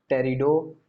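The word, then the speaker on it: Pteridophyta: अब बेटा देखो ध्यान से, बहुत ध्यान ध्यान सुनिएगा, लास्ट हम लोग पढ़ेंगे, लास्ट क्या पढ़ेंगे, टेरिडोफाइटा, टेरिडोफाइटा, पी साइलेंट है इसमें, टेरिडोफाइटा।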